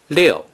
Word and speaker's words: 六: Six in Mandarin Chinese is pronounced 六.